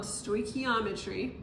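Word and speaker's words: stoichiometry: we're going to start talking about something called stochiometry that's how you pronounce this word and it is basically converting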